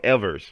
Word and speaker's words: Evers: You know Charles Ever took over Charles Evers. I'm sorry I got to pronounce that S.